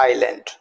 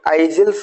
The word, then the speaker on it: isle: तो ISLAND, तो generally आप आइसलैंड बोलते हैं, तो दिस इज रॉन्ग वन, इसका बोलेंगे आइलैंड। ISLE तो आइजल्स बोलेंगे, इसका सही pronunciation that इज आइल, OBSCENE।